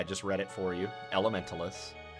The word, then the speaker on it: Elementaliss: this game is called Elementalist. If you can't read, I just read it for you. Elementalist. It sounds like somebody that's trying to say elementalist but doesn't realize there's a T.